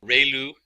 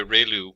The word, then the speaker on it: ReLU: just the standard step function we have the relu it's pronounced like ray the from the sun and liu like a name so relu function and we have the tangent h function